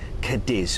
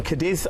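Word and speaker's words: Cádiz: Then there's another relaxing day at sea, and then an absolute classic on the cruise itinerary is got to be Cadiz, or Cadiz. Cadiz. Cadiz. As those locals say.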